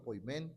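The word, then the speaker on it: ποιμήν: El pastor está para alimentar, lo vimos esta mañana en el término pimen o poimen, como lo pronunciamos en griego.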